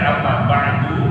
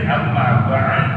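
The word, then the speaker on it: أما بعد: yang bacanya Amma ba'ad ada yang bacanya Amma ba'da semuanya boleh kata Syekh mahfuz at-tirkasi salah seorang ulama yang berasal dari termasacitan itu beliau menyatakan banyak gaya boleh dilakukan ketika membaca Amma ba'du tetapi yang paling cakep kata beliau dibacanya adalah Amma Badu boleh enggak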